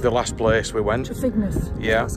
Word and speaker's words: Trefignath: Trefignath. Yeah. That's how you pronounce And this has got a much nicer